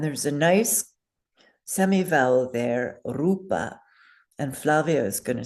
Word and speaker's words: rupa: It is pronounced rupa. So everybody say rupa. Roll that R.